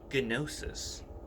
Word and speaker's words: Gnosis: I'm going to use the term Gnosis, spelled with a G, Gnosis, because I'm going to